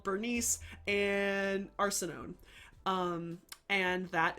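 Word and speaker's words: Berenice: but it is literally Bernice. That's how it's spelled. It's not with a K, but I always pronounce it Bernique because I hate saying Bernice.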